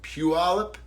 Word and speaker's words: Puyallup: Gaming Expo in Puyallup, which does not sound the way that it's spelled. That's why I think it's funny that I can pronounce it, because I was taught how to pronounce it correctly. And I do think I'm saying it correctly, but Puyallup, Washington.